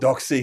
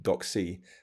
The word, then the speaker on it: DocC: screw it up this is this is not doxy it's entirely me uh so they know what